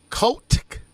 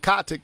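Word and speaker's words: Kotick: the resignation of bobby kotec i think that's how you say it i said coptic the first time you said no you said we gonna say c-o-t-i-c-k there you go now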